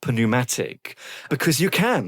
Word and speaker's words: pneumatic: the Oxford English Dictionary, might be actually pushing people to pronounce the P, the silent P, in words of Greek origin. So like psychology. We have good evidence that someone like Murray actually pronounced it psychic and, pneumatic.